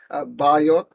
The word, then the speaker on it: Biot: Bio, so it's not pronounced as Biot, it's Bio.